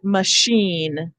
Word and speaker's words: machine: then it says in the french influence words like machine and uh mustache and um champagne chandelier and i